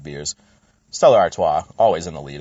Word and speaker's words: Artois: Get your French-German pronunciation to get your Belgian pronunciations out there. Artois.